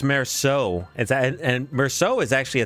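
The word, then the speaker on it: Meursault: Oh, it's Merceau. And Merceau is actually a type of Burgundy wine. I just typed it in how to pronounce Merceau, and it's Merceau. Mersault.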